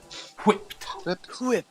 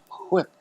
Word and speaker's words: whipped: Whipped. Just pronounce the H before the W. Whipped.